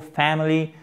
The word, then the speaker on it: family: Whole family, family, accent tonique sur la première syllabe, à court, pas family, non, family.